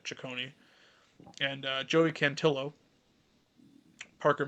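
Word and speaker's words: Cecconi: By Gavin Williams, Slade Chonei is apparently how you say it. Chicone and uh Joey Cantillo, Parker Messik.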